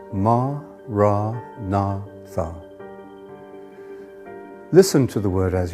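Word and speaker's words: Maranatha: you choose that word say it as for syllables ma ra na Tha listen to the word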